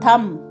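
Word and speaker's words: thumb: ए आई एल एस अंगूठा थम टी एच यू एम बी थम बी साइलेंट होता उसे पढ़ा नहीं जाता थम रिस्ट कलाई कलाई को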